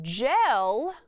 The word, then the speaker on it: gel: When the J sound is followed by an E sound, it could be the soft G. So gel begins with J.